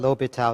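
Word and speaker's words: L'Hôpital: Okay, so this S right here, in this word L'Hopital, it's a French name. This S is silent. Okay, just pretend that S is not there in L'Hopital.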